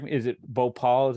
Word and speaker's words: Bhopal: obviously a worldwide tragedy correct me is it Bhopal is how you pronounce it yep right so another great writer